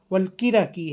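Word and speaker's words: الكركي: بلبل کو، اور کرکی والکرکی، والکرکی ہے اصل تلفظ۔ ہاں یہ ہم سارس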